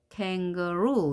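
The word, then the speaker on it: kangaroo: 없죠 쥐 바로 갔죠 강세가 뒤에 놓이게 됐습니다 캥거루 이렇게 얘기해 주게 되겠죠 캥거루 에 발음했고요 어 발음했고요 우 발음했습니다 캥거루 ask 바이크 키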